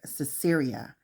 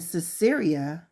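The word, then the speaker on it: Sisera: in the Book of Judges there's a word ceria and it's spelled s I'm looking at my Bible here it's s i s e r a and ceria is the um Commander he was a he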